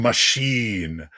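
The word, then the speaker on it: Machín: Uh, is pronounced Machine, which is so apparently I I know a guy who lives out in the the Norfolk area.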